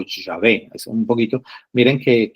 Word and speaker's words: Yahvé: Bueno, según los estudiosos, incluso los mismos judíos, reconocen que la pronunciación más acertada o más cercana es el nombre de Yahvé.